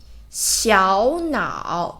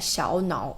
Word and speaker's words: 小脑: This part, 小脑 And here, there's two third tone and should pronounce the first one into second tone. 小脑 But not 小脑, okay? 小脑小 second tone. 小 and 脑 third tone.